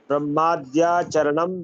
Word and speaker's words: ब्रह्माद्याचरणं: हाँ, इत्यथर्वण वाक्यम इत्यर्थर्व वाक्यम ब्रह्माद्याचरणं विद्यात् ब्रह्मादाचरणं विद्यात् ब्रह्माद्याचरणं विद्यात्। दा में धा का उच्चारण आता है, वो नहीं आना चाहिए।